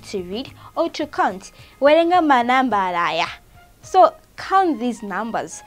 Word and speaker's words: werenga: Okay, then our next word is werenga. Werenga, it is spelled as w-e-r-e-n-g-a.